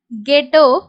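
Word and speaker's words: ghetto: word வந்து start பண்ணும்போது ஜி யும் ஹெச் வந்துச்சுன்னா ஜி யோட சவுண்ட் கொடுக்கணும் ஹச் வந்து சைலென்ட் பண்ணனும் எக்ஸாம்பிள் வந்து கோஸ்ட் கெட்டோ இந்த ரெண்டு வேர்டும் இந்த மாதிரி நமக்கு வந்து ஜிக்கு அடுத்து ஹச் வேர்ட்ல ஸ்டார்ட் ஆகுதுன்னா அங்க ஹச் சைலென்ட் பண்ணிட்டு ஜி மட்டும் நம்ம ப்ரொனௌன்ஸ் பண்ணா போதுமானது அடுத்து இருக்கக்கூடிய ரூல் என்ன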